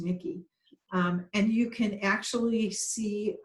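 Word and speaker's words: Michie: the tavern and by the way it's called Nikki tavern yes yeah yeah it's spelled Mich ie but it's pronounced Nikki and you can actually see what the rest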